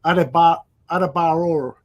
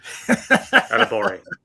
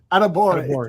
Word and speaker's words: Adebawore: Niel, tell me your love about I thought I had the name pronounced correctly, but I'm going to try it. Adebayor. No, can't do it. Adebawore. Adebawore.